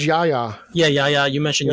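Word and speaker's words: Yahya: yaha or yeah um i believe it's pronounced yaya yeah yeah yeah you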